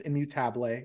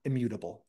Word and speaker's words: Immutable: And yes, it's pronounced immutable. It's a Spanish word. It's not immutable, something that a lot of people think is a typo in our courseware.